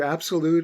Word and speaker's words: Absolut: So for those of you who are not familiar, Absolute is spelled A-B-S-O-L-U-T. There's no E. So Absolute.